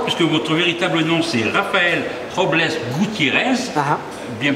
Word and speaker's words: Rafael Robles Gutiérrez: Mais avant, j'aimerais savoir, puisque votre véritable nom, c'est Rafael Robles Gutiérrez, bien prononcé ?